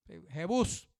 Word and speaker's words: Jebús: Se llamaba Jebús o Jebús. Jebús con acento en la U.